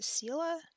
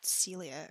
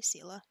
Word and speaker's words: Ciela: Is it Ciela? Ciela? I always, like, thought it was Celia or something, which is wrong. Ciela. Ciela. I'll say Ciela.